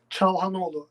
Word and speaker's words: Çalhanoğlu: How do you pronounce Hakan's last name? Çalhanoğlu, actually.